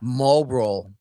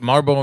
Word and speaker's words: Marlboro: I leave off the L.